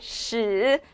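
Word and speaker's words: 十: 중요하냐면 발음이 조금 어려워요 얘는 혀를 말아주는 음이라고 해서 권설 의미라고 발음을 합니다 자 발음을 할 때 혀 천장 그 입천장이 입천장에 울퉁불퉁한 곳이 있어요 그곳에 를 치켜 올려서 위아래 이을 닫은 상태에서 쉬라고 발음합니다 다시 한번 슈 바른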